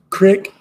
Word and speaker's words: creek: About the way you pronounce creek. Crick.